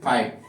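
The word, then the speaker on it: fight: site F आईजी एसटी एफ आईजी एसटी इसको पढ़ोगे फाइट क्या पढ़ोगे फाइट तो यहां पे वापस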